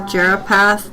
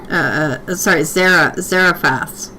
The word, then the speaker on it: Zarephath: The options are Tabitha, Jesus, Lazarus, or the son of Jeropath's daughter. Who was Jeropath? Zarephath. Zarephath? Let me see. I'll look up the pronunciation of that too.